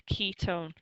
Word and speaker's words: ketone: carbons this is a ketone so what's your spelling on this one people spell it as key it's Ketone k e t o